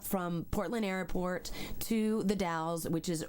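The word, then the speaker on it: Dalles: Trail ends at the DS which is d a l l s like Dallas but they don't pronounce the e for some reason well sometimes you don't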